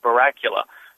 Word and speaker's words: Barracula: So like like Dracula um Barracula.